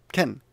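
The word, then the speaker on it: 犬: In this case, so you look, in this case, it's not pronounced ken, it's pronounced inu.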